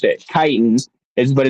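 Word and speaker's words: chitin: That's how he pronounced it. Kitan is but it's spelled C H I T I N.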